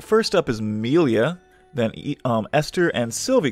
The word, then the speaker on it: Melia: all right so amelia think of it like um it's pronounced like uh amelia but you know just without the a um okay uh or at least that's how google tells me it's pronounced milia all right uh based